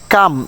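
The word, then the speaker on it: calm: কাম শব্দের অর্থ হচ্ছে শান্ত, পাম শব্দের অর্থ হাতের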